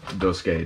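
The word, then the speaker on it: Duscae: That Episode Dusky demo. I mean, I pronounce it Dusky simply because the AE is usually pronounced as a Y sound. So it makes sense to me, damn it.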